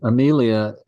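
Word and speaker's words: Aemilia: On Amelia, because the first long is the me, Leah. No, it's not. No, it's not long. It's short. That's short. Okay, so all three of those syllables are short. Correct. So you go to the first. Well, the first syllable you always ignore. The accent is never on the last syllable. Then you go to the syllable before it, which is I, and that is short.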